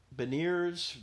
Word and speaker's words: beignets: He's got beignets, which is that's how you say it. Yep. Beignets, not the French way.